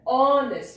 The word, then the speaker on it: honest: So also with honest, it begins with a vowel sound honest.